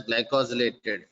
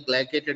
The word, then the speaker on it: glycated: I told you it should not be pronounced as glycosylated. Glycosylated has different meaning. This is only glycated hemoglobin.